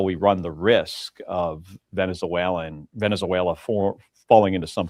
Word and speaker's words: Venezuela: How many syllables does Venezuela have in it again? Venezuela. Like he found two extra syllables in that word.